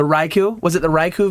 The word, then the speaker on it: Raikou: was it the the Roku the Roku Roku I just said it I said it wrong the Raikou was it the raiku